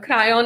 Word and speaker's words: Kryon: the crayon books and crayon is spelt with k-r-y-o-n right and one of